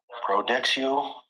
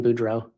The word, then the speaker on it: Boudreaux: Here is looks like several credit cards with name of Brandon Prodexio. Pronouncing that wrong. Also a driver's license out of Arizona for Brandon. Coming around more. Detective, you recently testified about finding a large amount of credit cards for Brandon Boudreaux. Yes, I believe there you may have mispronounced his name.